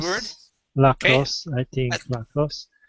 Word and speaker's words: lacrosse: I think lacrosse. It's pronounced lacrosse this with the stress at the end.